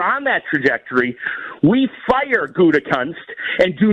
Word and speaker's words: Gutekunst: Got to be careful the way you pronounce that with the FCC lurking over ESPN Milwaukee. It's Gutekunst.